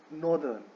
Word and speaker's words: northern: The right way टू से this word is नॉट नदर्न बट इट इज नॉर्दर्न. Okay, so you should be careful not to pronounce this word as नदर्न बट नॉर्दर्न.